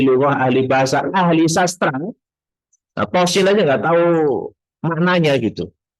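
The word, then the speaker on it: طس: Terakhir tentang qasin ini, bacanya itu to-nya 2 harokat, sinnya 6. Tosin gitu, bukan tosa ya.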